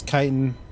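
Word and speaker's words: chitin: Chitten. I think it's called kiten. I pr I've always pronounced it as kiten.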